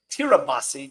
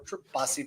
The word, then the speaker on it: Tirabassi: Salvatore Tirabassi. Did I say it right, Salvatore? You got it. You got it right.